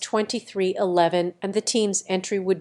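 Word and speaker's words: 23XI: was confirmed to be 23 Roman 11 racing pronounced 2311 and the team's entry would bear no 23.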